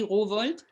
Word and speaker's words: Rowohlt: que es un genio, Harry Rowohlt, vamos a pronunciarlo bien, Eso. Harry Rowohlt, Humboldt.